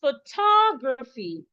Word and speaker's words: photography: So I'm stressing the T-O. Excuse me. So the T-O here should be stressed, should be pronounced toe. Toe. Oh, toe, rather, toe. Oh, toe. So the word is photography. Photo, not photo. It is photography.